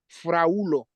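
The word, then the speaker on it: fraŭlo: Here I can say fraulo. You can hear that I say wu, fraulo. Fraulo is a single person, and is a male.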